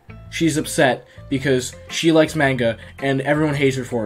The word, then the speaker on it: manga: I try to pronounce it manga because that's how it's supposed to be pronounced, I'm pretty sure, because, like, I don't think any other language other than English uses A and makes it sound like eh.